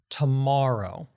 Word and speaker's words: tomorrow: But when you kind of really enunciate it, again, it's tomorrow.